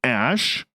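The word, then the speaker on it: Æ: And then the AE is pronounced like Ash.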